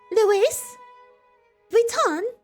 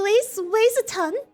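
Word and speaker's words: Louis Vuitton: okay our last one is called Louise Wheaton say it with me Luis Vuitton I refuse um can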